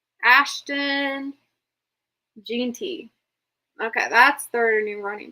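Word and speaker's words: Jeanty: Genty. Ashton. Genty.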